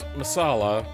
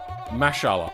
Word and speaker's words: masala: It's not pronounced masala. It's more like mashala.